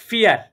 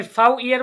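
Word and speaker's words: vier: এবারে বলেন আমরা চারকে কি বলি ডয়েচে ফিয়ার। এবারে দেখেন এখানে কি আমি ফাউ ইয়ার বলেছি?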